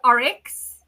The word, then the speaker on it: Oryx: And I'm going to butcher it again, so I want you to tell everybody how you pronounce this. Okay, so this is Oryx Desert Salt.